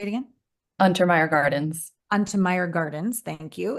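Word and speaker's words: Untermyer: Untermeyer Gardens.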